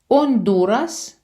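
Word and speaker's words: Honduras: Гатемала, ондурас. Це гондурас, але зверніть увагу, е, що змінюється наголос в іспанській мові і ачі ж не читається.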